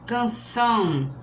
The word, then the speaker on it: canção: Então, assim, canção, a sílaba forte é a última.